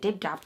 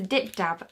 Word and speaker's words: Dip Dab: Yeah, I used to call it dib dab, so I was obviously saying it wrong. It's a dip dab, and this it's like a red lollipop.